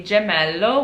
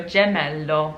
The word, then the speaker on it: gemello: italian word would be gemello which means twin so since the g is followed by an e it's pronounced like a j like jelly so gemello now if a g